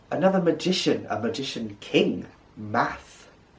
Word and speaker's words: Math: magician a magician king math math very easy just like mathematics math math app you'll see